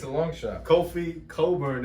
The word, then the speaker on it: Cockburn: Kofi Coburn, as I've learned it's pronounced, not Cockburn.